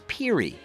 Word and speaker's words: Pierre: from Windsor Ontario Canada you pronounce Pierre as Peri you can use Fahrenheit